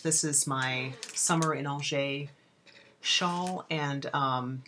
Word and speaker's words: Angers: It's Summer in Angers, and Angers is spelled like Angers.